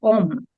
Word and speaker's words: Om: And actually these are represented in the syllable Om. The syllable Om is written with 2 letters, but actually it includes 3 letters, right? The letter A, the letter U, and the letter M.